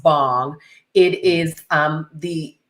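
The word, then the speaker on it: bhang: what bangology what bang means and it's actually pronounced bong it is um the it's a drink that's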